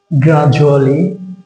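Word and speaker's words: gradually: কারণ হচ্ছে শব্দের মাঝে যদি ডি এর পরে ইউ আসে তাহলে এই ডি এর উচ্চারণটা জ হয়ে যায়। যেমন গ্রাজুয়ালি ডি এর পরে ইউ আসছে এবং শব্দের মাঝে আছে, এই জন্য ডি এর উচ্চারণ জ হয়ে গেছে।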